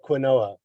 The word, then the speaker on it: quinoa: Looks like quinoa, but it's pronounced quinoa.